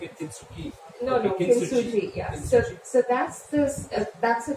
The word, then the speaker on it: Kintsugi: Kintsugi. Okay, I've been pronouncing it Kintsugi. No, Kintsugi.